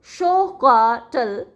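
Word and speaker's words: xocolatl: Aztec एंपरर Montezuma and the Aztec word for it Joko लेटल pronounced as शो काटल evolved into the English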